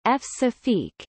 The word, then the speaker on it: Françafrique: Françafrique, French pronunciation, F-Safique, is France's relationship with its former African colonies.